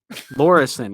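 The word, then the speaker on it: Laweryson: Lorison, is that how you say it? No, you got it. You're spot on.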